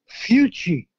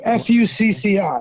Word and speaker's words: Fucci: He came from Italy, and his last name was Fucci. Fucci, not Fusilli. No, F-U-C-C-I.